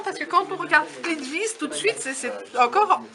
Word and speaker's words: Plitvice: Donc, Plitvice, c'est Plitvice et Karka, on sait bien foutu de notre gueule, mais c'est Korko. Et pas Karka. Bah en fait, ça s'écrit K-R-K-A.